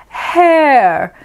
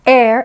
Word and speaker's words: heir: for air that's right it sounds like air that we breathe but it's air not to be pronounced hair because that's the kind that's actually on your head so the honest heir admits that herbalism isn't